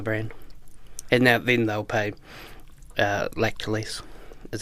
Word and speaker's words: Lactalis: And then they'll pay Lactalis, is how you say it.